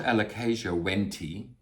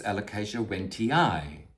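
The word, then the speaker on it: Alocasia wentii: When you have an I I two I's at the end of a word, you do have to pronounce them. It's not alicasia wenty, it's alicasia wenty.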